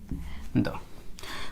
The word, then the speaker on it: だ: ওরা সাধারণত দা তারপরেরটা হয় জি যু দে দ প্রথমটা হয় দা এটা এভাবে দিয়ে এরকম দিয়ে